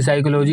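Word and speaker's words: psychology: बार पता चला कि साइकोलॉजी की स्पेलिंग सी या एस से नहीं बल्कि पी से शुरू होती है उस दिन समझ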